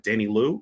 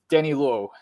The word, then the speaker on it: Danny Lowe: Danny Liu or Danny Lau? Danny Lowe. Danny Lowe. There we go.